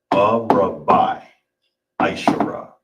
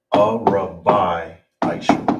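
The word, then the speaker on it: ארבע עשרה: So, how you would say it in totality, arba' ashara. All right? Arba' ashara. And that is how you say 14 in the Hebrew.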